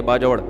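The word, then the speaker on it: बाजौड़: उनके सुसर केपीके से ताल्लुक है बाजोड़ से। बाजड़ का जिसको बाजवड़ कहते हैं। असल प्रोनाउंसिएशन ही है बाजवड़।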